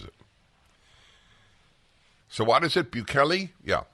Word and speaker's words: Bukele: See how the computer pronounces it. So what is it, Bukele? Yeah, Bukele.